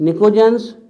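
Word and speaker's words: pnictogens: और इसका स्पेशल नाम लिखवा चुके हैं हम, निकोजेंस। निकोजेंस, साइनोजेंस बोलते हैं इनको, ध्यान रखिएगा। N से नाइट्रोजन, N से निकोजेंस, P साइलेंट होता है।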